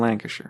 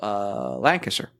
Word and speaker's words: Lancashire: I want to talk about Brass, Birmingham, and Lancashire.